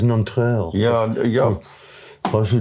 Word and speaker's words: Nanterre: Wir würden ja Nanterre sagen. Ja. Aber das heißt Nanterre.